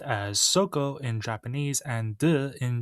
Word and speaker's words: 底: This is pronounced as soko in Japanese and de in Chinese.